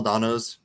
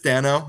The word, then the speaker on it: Dano: gang they're coming i i loved um paul donno's donno that's is that how you pronounce it well i always say daniel but